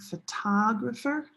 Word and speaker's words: photographer: Using your open hand will slow you down on the syllable. So try it. This is olive sock photographer.